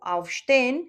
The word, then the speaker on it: aufstehen: ejemplo, aufstein, el verbo afsta que significa levantarse. La acentuación en los verbos separables siempre eh va en la sílaba tónica que es el prefijo.